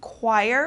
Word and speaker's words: choir: throughout the house okay Choir This is an organized group of singers so this CH turns into like a k sound choir or a q sound uh for example the